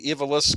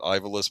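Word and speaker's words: Ivalice: Uh, Final Fantasy Tactics, the the Evilis Chronicles. We used to always pronounce it Ivalis, but I think it's Evilis.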